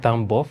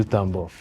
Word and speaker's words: Tambov: Is it Tambov? What do you pronounce? Tambov.